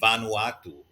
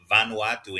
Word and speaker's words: Vanuatu: other countries smaller than the Philippines uh specifically Vanuatu vanu ATU I'm sure many many of you